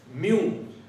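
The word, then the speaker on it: μ: Permeability के लिए ये जो सिंबल है इसको हम लोग बोलते हैं म्यू, MU, म्यू।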